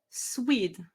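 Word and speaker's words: SWHID: on this particular identifier the swed which is pronounced like squid.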